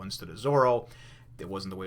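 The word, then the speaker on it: Zoro: it was a big faux pas to say zolo instead of zorro it wasn't the way it's pronounced blah blah blah i was actually informed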